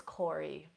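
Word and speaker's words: Kore: personal favorite of mine so this is Corey spelled k o r e I actually have a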